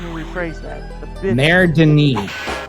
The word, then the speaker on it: Mère Denis: Mère Denis is how you pronounce it.